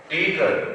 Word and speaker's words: Tagore: জাহাজের যে ক্যাপ্টেনরা ছিলেন, সাহেব ক্যাপ্টেনরা, তারাও তাকে ঠাকুর মশাই এবং একটু বিকৃত উচ্চারণে টেগর হয়ে গেল।